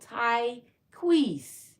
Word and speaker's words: Tyequiece: My name is pronounced as it's spelled. Tyequiece. The C is silent.